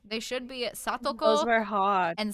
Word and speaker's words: Satoko: So specifically the two names that I do not pronounce correctly in the videos are Satoko and Satoshi. They should be Those Satoko were hard.